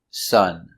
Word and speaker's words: son: But also, S-O-N is pronounced exactly the same way, sun, sun.